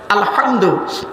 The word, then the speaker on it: আলহামদু: আলহামদুলিল্লাহি রাব্বিল আলামিন এ গলার ভেতর থেকে এটা উচ্চারণ করবেন আলহামদু এর মানে হচ্ছে সমস্ত